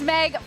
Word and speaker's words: Meg: smells amazing this is Meg from fanatic I was going to say it rhymes with egg thank you it's it's